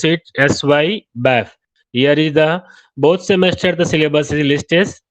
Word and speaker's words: SYBAF: In short, we pronounce it SY BAF.